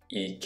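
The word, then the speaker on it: 池: sa-KE (alcohol), i-KE (lake), u-MA (horse), u-SHI (cow) can you hear how these all have the same pattern?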